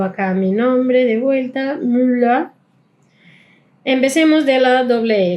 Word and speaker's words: Müller: Esto va a tener el mismo sonido de una sola L, bien, es L. Müller. Acá al final, viste que suena casi como mula.